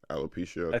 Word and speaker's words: alopecia: can be embarrassing how do you say alopecia alopecia that's what it is playboy p was what's